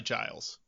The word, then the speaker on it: Giles: a little more about guile's corey because this dude had a nut sack on him like nobody's business so you're sticking with the hard g on guiles because it's probably giles the ios corey it's